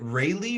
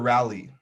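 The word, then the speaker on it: Raleigh: kind of rough today is it rayleigh or rally it's rally right right lake studios railroad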